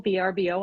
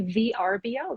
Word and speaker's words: Vrbo: apartment or vacation property vrbo that's how i always called it that and then somebody said i heard that it was a verbo and i'm like oh god i've been saying it wrong for years yeah so um